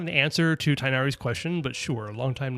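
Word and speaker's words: Tighnari: Da also, how do you pronounce Tinari? Is it like tinari?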